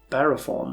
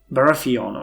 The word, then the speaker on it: Baratheon: initiation of the um Roberts uh I was barathon right Baratheon okay I always mispronounce that so I apologize in advance for